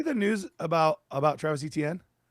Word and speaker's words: Etienne: You're telling me Devon Achane and Travis, apparently Achane, have the same pronunciation of last name despite almost polar different spellings.